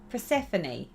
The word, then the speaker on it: Persephone: never say that name you know that mirabilia persephone is that right yeah that is how you